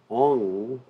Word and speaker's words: Om: So as we mentioned before, many people consider the syllable Om to be impersonal. But the Acharyas explain that actually it's very personal, because A-U-M is Om, and that is Radha and Krishna, the living entity.